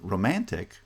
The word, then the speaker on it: romantic: because they're unstressed syllables in romantic the second syllable is stressed romantic romantic and in the third